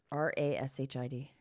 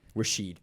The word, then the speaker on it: Rashid: Rashid, which is what it had because it had raw and then shid. R A S H I D.